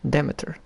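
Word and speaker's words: Demeter: Demiter. That That That's what I learned how it's pronounced. Demiter.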